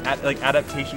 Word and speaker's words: adaptation: It's adaptation is the word you're going for. If you could just add the extra syllable.